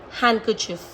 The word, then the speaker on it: handkerchief: That in these 4 words, जो आपका D है वो silent ही रहेगा. Again, I am reading it for you. Handsome, Wednesday, sandwich, handkerchief. And the rest words are badge, edge, hedge, wedge, grudge.